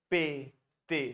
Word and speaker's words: répété: voilà '' ce matin '' voilà', अब देखो, हर उच्चारण पर ध्यान दो, 'repété', सभी 'é ' हैं, इसलिए 'jai répété' कहें।'